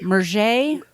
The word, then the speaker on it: Murger: Murger. Right. Like burger, but with an M.